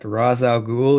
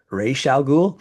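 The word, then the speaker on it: Ra's al Ghul: And then and then I found out that Raza Ghoul is supposed to be pronounced Raal Ghoul.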